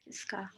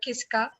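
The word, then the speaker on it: किसका: uh who is kisska Kissa yeah it sounds like kiss and Ka so it's you can remember that way uh Kisa and also it's interesting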